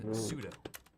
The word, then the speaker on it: sudo: We're gonna go to the beginning of our command and type in sudo. Or it's also often pronounced sudo, but it's spelt sudo, so I want to say that.